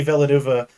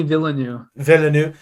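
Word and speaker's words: Villeneuve: clearly could tell that danny villanueva however you say his name how do you say his name i think i think it's denny villeneux danny villanue that he like just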